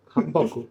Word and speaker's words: hanbok: Yeah, How do you say hanbok? Hamburg. Hanboku.